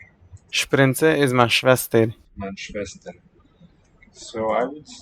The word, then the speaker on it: Schwester: Schwester is the spelling. Weak second syllable though. Let's hear it. Sprinze is my Schwester. Schwester. Reduced vowel there.